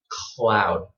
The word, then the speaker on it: cloud: What you want is to put your tongue, before you say, put your tongue up. Okay, just like this. Cloud.